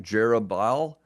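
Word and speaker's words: Jerubbaal: me pause really quick a lot of times we might pronounce that name jerub jeruel uh it's probably more like jobal and I'm still certainly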